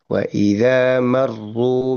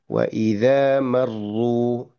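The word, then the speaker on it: وَإِذَا مَرُّوا: Untuk yang bertasdid waidza maru marhu maru seperti itu. Itu lidah cenderung tegang sebetulnya ketika bertasdid. ketika rnya bertasdid itu sendiri gitu ya seperti itu. Waidza marru bihim gitu ya. Waidza marru seperti itu tidak cenderung untuk tegang gitu kan ya.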